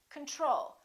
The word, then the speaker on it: control: Do we say control or do we say control? We say control. Second syllable is stressed. The first O is reduced.